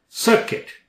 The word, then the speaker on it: circuit: personal circle circuit you silent nor secrete or succeed